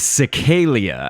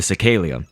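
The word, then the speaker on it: Cecaelia: So this source object that we're going to start off with is Cecalia, I believe is how you would pronounce that.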